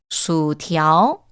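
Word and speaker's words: 薯条: 자, 감자튀김은요, 수티ao, 수티ao, 수티ao. 여러분, 중국어는 이런 sh나 건설음 발음들이 좀 있습니다. 혀를 살짝 말아서 읽어주시면 되겠고요.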